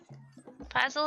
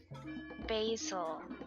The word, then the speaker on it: Basil: Puzzle, is that you? Its name is Puzzle? No. Like Basil. Oh, Basil. I thought it was Like that- Puzzle. No, Basil. Basil.